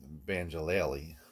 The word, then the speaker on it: banjolele: but I think the pronunciation is supposed to be banjolele combination of banjo and ukulele you know what I'm